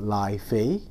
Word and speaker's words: Lafite: some people call it lai fei and that's kind of a chinese pronunciation of it so that's this is